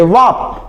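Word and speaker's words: wrap: यानी आप कुछ भी लपेट रहे हो ना तो उसको बोलोगे वप।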